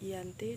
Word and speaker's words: Giyanti: Dalam pelafalan Belanda ia tersebut sebagai Ianti dan secara tertulis ia tersebut sebagai Giyanti. Di masa silam perjanjian ini